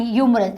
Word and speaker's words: humorous: Okay, and ह्यूमरस, एच is silent over here.